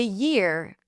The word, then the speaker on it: year: So, to say year, we want to say ear, which is the vowel, and add a yuh sound before.